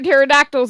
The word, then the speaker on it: pterodactyls: Why can't you hear pterodactyls when they go to the bathroom? Come on. You You started it. Why can't you hear them when they go to the bathroom? Why? Because the P is silent.